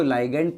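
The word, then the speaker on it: ligand: बोलते हैं बच्चों ऐज़ लाइगेंड राइट? अब आप इसको लीग्ड प्रोनाउंस कर सकते हो या लीगेंड बोल सकते हो।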